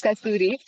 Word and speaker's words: Kasturi: Kasturi, do I pronounce it? Yes. Correctly? Yeah. Yeah. It's Kasturi.